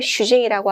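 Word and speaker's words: 主人: 오야라고 읽고, 그 다음에 아들은 무스코, 그 다음에 딸은 무스메, 그 다음에 남편 같은 경우는 슈징이라고 하죠. 자, 주의점은 슈를 그렇죠, 짧게 발음한다.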